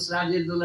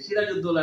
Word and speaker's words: সিরাজুদ্দৌলা: স্যার সেটা হচ্ছে আবার সত্য সাদ্দাম হোসেন ও সিরাজের দৌলা নামে যে বই আছে সিরাজুদ্দৌলা নয় সিরাজের দৌলা কারণ ঐভাবেই লেখা হইতো মুসলমানদের